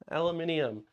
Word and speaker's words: aluminium: Aluminium. Aluminium. I like when people say aluminium. It makes me happy. It sounds more fun than aluminum.